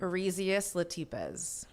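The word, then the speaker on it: Oryzias latipes: How do you pronounce the scientific name? Arzius latipz.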